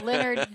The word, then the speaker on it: Lenard: many people I ask, how do you pronounce Lenard? Yes. Is it Lenard? Is it Lenard? So we were doing our background work on you also. Gotcha. Yeah, Lenard, nothing fancy.